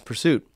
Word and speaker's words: PRST: don't even know that the letters of prst are meant to be pronounced as Pursuit so you see this